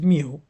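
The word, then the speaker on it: μ: Um, it's mu, pronounced as mu.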